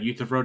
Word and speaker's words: Euthyphro: Otherwise, you get problems like the Euthyphro problem. I can't pronounce that right, but The basically, the Euthyphro dilemma. yeah. That's how you pronounce it.